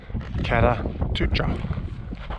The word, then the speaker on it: Kata Tjuta: Kata Tjuta. I pronounced that right.